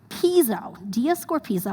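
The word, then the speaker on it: διασκορπίζω: In Greek, the word for squander is right there in the screen, and the way you pronounce it is diascorpizo, I'm like reading it in Greek right now, which means to like scatter with wild abandon.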